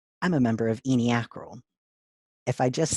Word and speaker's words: ENY/ACRL: And then, of course, how it's pronounced "eenie-akrle."